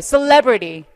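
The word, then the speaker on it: celebrity: 그래서 셀레브리티 이런 발음하실 때 주의하셔야 돼요. 자, 발음 한번 해볼게요. 셀레브리티. 셀러브리티라고 보통 학생들이 많이 하거든요. 칩해, 너무.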